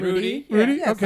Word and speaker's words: Rudi: You would pronounce that R-U-D-I. Mm-hmm. Rude. No, Rudi, right? Rudy.